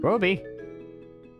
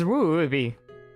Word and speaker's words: Ruby: bony World from dying Ruby Stella you never say my name right it's ruuby you got to say it with a r like sorry this just